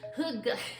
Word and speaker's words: Hygge: I'm always going for that Danish word no one knows how to pronounce. I looked it up the other day, and it was Hygge, the art of coziness.